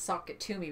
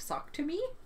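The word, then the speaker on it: Sock It To Me: would pronounce that name it's socket to me but people are like sock to me or socket to yep anyway um I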